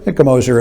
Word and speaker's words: Gmoser: know i have a my name is spelled with a g it's g-m-o-s-e-r the g is silenced old austrian name and